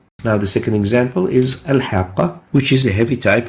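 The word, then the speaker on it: الحاقة: Al-haqqa is a word, and we pronounce it as al-haqqa. Al-haqqa.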